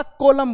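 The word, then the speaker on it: column: ये है कंडेम, कंडेम करना, किसी का निंदा करना, क्रिटिसाइज करना, कंडेम, ये एन साइलेंट। इसी तरह आपका कॉलम बोलते हैं इसको, कॉलम, कॉलम, N silent, N को नहीं बोलना, कॉलम, कंडेम, डैम।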